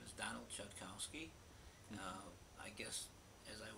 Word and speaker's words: Chodkowski: Okay, my name is Donald Chodkowski. Mhm. I guess, as I was told, that of course the Polish pronunciation is Chodkowski.